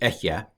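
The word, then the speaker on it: אֶהְיֶה: So anyway, there's the pronunciation of the dictionary form, not the pronunciation of the form in situ, which is Ehyeh.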